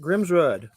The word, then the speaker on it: Grimsrud: Everybody wants to say Rudd because they don't want to say rude, but it is Grimsrud. Grimsrud. It sounds like a comic, like a creature. Might be, Grimsrud.